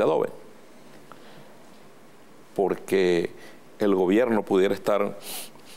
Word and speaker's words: Adobe: Así se pronuncia, Adobe.